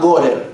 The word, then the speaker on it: Gorer: de un sociólogo británico que se llama Gorer, como suena.